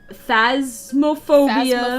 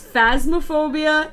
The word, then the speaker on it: Phasmophobia: at my inability to pronounce in spanish phasmophobia phobia it's phasmaphobia and danganronpa dagging around danganronpa